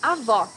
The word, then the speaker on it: avó: Avó, grandmother. Here you need to hear the sound of the last O in the syllable. It should be an open O, as we say in Portuguese. Avó. A minha avó faz bolo delicioso.